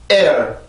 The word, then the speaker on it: air: air. 자, 반드시 여기 성대가 앞에서 긴장이 돼야 돼요. 두 개 다 긴장을 시키는 게 아닙니다. air 이런 게 아니에요. 앞에서만 긴장을 하고 뒤에서는 소리를 풀어요.